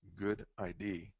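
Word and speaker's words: GUDID: is the next step global UDI database pronounced good ID is a repository for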